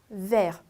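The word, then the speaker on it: vert: 그래서 vers. 그리고 끝자음은 대체적으로 제가 읽지 않는다라고 했기 때문에 t는 발음이 없어요. 그래서 vers, vers.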